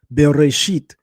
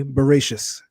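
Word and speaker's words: בראשית: and uh for instance, we would say in Hebrew beresit as the first word of the Torah, which means in the in the beginning, a European Jew would say boracious. They would end it with an S because in southeastern Europe, words that usually would have a T, they pronounce as an S.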